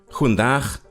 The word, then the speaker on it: goedendag: With the Dutch, goedendag, hoe gaat het met u? You see, the G in Dutch is pronounced ch, and Dutch has lots of chs.